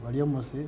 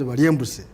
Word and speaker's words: Baryomunsi: And the only union surviving, and as my brother Baryomunsi, who in Bugisu is known as Baryembusi. That's how they pronounce his name.